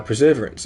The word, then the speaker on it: perseverance: Uh, preserverance accent on third syllable to preservance.